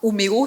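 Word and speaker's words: Umeå: Mais le plus spectaculaire, c'est ce qui se passe à Homéo. Ça se prononce, ça s'écrit Omea en Suède qui est la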